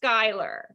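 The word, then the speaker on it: Schuyler: And it is, for those of you who are, it is pronounced Skylar.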